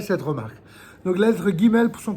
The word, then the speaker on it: Guimel: remarque donc la lettre Guimel son comme son nom l'indique elle se prononce gu elle se lit avec